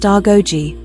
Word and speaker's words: Agojie: They were the Agoji, pronounced Argoji, or Mo, our mothers